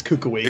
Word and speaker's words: Kukui: It's Kukui because that's what I've been correct. As soon as I first said it, I had Hawaiians actually come up to me and say it's Kukui.